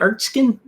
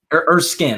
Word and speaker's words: Erskine: Erskine. Erskine.